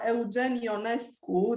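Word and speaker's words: Eugen Ionescu: the first one uh eugenio nesco this is the pronunciation in romanian but because he lived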